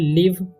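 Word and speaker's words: live: यहाँ पर लिखा हुआ है लिव, इसे लाइव नहीं पढ़ना है, लिव पढ़ते हैं।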